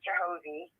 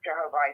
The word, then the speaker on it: Jehovih: so delighted when uh Virginia used to pronounce it jehovie with the proper uh uh a vowel sound at the end Jehovah um but everybody else has Jehovah and it's not Jehovah that's the angle side version but um I want